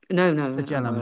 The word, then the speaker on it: flagellum: I don't think I've got the pronunciation quite right. Flagellum. Anyway, I'm guessing flagellum. Yes, that's it.